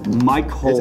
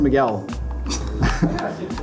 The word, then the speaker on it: Miguel: Cole is Miguel. Michael. It's pronounced Miguel.